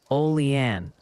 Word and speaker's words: Olean: Oh, and the Pronunciation Committee has submitted an update. The consensus on Olean is Olean.